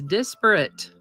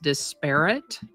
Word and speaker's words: disparate: Today's word is disparate. It can also be pronounced disparate. Either way is correct.